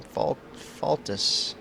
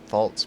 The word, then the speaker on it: Faltus: Tim Faltus, I guess is how you would say his name. I've always called him Tim Faltz, but I can see now that that's not correct.